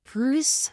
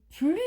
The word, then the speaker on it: plus: a est plus inspiré donc il faut faire la liaison je dois entendre le son Z plus Z plus inspiré 2 plus 2= 4 et là pour le 3è exemple il faut prononcer le S donc 2 + 2